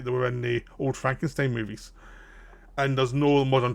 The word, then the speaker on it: Frankenstein: So Gene Wilder plays the new Frankenstein now, who does not like when his name's pronounced Frankenstein. It's Frankenstein, not Frankenstein, and Frankenstein.